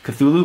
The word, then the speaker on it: Cthulhu: it right cuz I don't know how to pronounce it no that's right Cthulhu let's go - okay so Cthulhu Markovitz Cthulhu